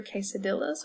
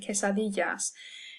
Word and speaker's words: quesadillas: We don't order tortillas or quesadillas, hopefully. You're ordering tortillas and quesadillas. And so anytime you see a double L, you're going to hear y.